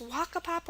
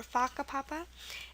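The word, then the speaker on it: whakapapa: fun word to say Haka Papa w h a k a p a p a it's also pronounced faka Papa so it's Waka Papa or faka Papa and we have it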